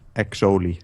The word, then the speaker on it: Exoli: About the two letters in his name that were silent, and asking if I could say it. He says his name is just Exoli, so I said it wrong.